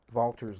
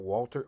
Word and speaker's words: Walther: we use something called vaulter's law why is this not walter why isn't that walter's law walther's law because it's german and the w is pronounced so it's walther's law